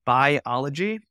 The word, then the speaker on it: Buyology: the marketing space is called biology so it's spelled buyology um and it's the science